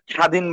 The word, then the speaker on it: স্বাধীন: আমরা যেটা বুঝতে পারতেছি, দুইটা রুলের প্রথমে রাখা আছে শব্দের শুরুতে যদি বফলাটা থাকে, স্বাধীন বানানে যেমন শব্দের শুরুতে আমার বফলা আছে, এটা তখন বফলাটা উচ্চারণ হয় না।